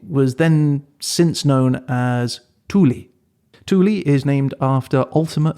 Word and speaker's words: Thule: The Greek and the English pronounce it with a soft th, that's why I'm saying Thule, and the Danish pronounce it with an initial hard t, so Thule.